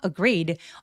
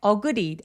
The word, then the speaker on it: agree: agreed. Agree. 동의했다는 뜻이죠. 강세는 두 번째 소리에 오기 때문에 agreed 아니고 agree agree 어에서는 힘을 쫙 빼 주세요.